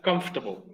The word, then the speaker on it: comfortable: Tiene 3 sílabas. La palabra es comfortable. Comfortable. Otra vez. Comfortable. Comfortable. Para una vez, comfortable. Como que eliminas la O.